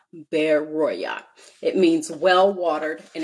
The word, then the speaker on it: Berea: So they send them away at night, and they send them unto Berea, and that's actually pronounced Beroya, Beroya.